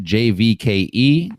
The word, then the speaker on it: JVKE: February 10th you get jvke is that how you say it it's Jake oh it's just Jake I think so yeah